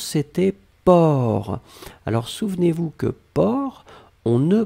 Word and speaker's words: porc: la dernière chose c'était port alors souvenez-vous que port on ne prononce pas le ces finales d'accord mais on doit quand même l'écrire donc vous écrivez p o r c'est d'accord donc port per c'est le sait finale n'est pas prononcé